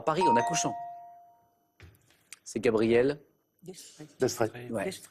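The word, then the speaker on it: Gabrielle d'Estrées: C'est Gabriel D'Estrée. Ouais. Avec un S qu'on ne prononce pas, ou c'est Gabriel Destrée, mais c'était ça.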